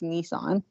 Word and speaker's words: Nissan: as first of all it's Nissan in the United States but I get a nice no we pronounce a Nissan over here yes I know you pronounce everything wrong I know so but